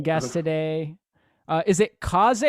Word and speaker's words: Kaze: got an awesome guest today uh is it kaze how do you pronounce it yeah it's it's kaze so okay that's appreciate it thanks for having